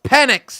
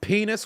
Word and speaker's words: Penix: Here comes Penix. You know how many people kept calling this man penis when they pronounce his last name?